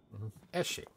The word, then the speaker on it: Eshe: Eshe. Well, I'm glad we got an official confirmation on the pronunciation of her name.